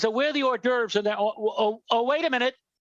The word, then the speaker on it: hors d'oeuvre: So it'd be hors d'oeuvre. So you want to be classy. So I would say the hors d'oeuvres. The hors d'oeuvre. That's yeah. Yeah, exactly. Because nobody ever pronounces the H.